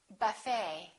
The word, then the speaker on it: buffet: The silent T very frequently happens in words that are originally French. For example, the word ballet that has the ET ending, and in the French language, the T is almost always silent, so English speakers pronounce it the same way.